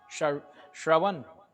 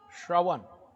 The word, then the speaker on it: Shrawan: Shravan Kumar, Shrawan. There are words that we pronounce incorrectly, but because of language difference.